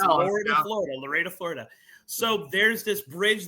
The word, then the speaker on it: Lorida: It's Lorida, Florida. Yeah. I know it's pronounced Loretta, but it's spelled Lorida, Florida.